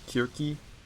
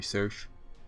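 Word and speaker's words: Circe: event we got with the search slash kirky i i believe that's the greek pronunciation but you know nowadays they just call her search which kind of like the hercules thing right i might be saying kirky wrong so i might just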